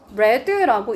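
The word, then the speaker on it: read: 레드라고 읽어야 돼.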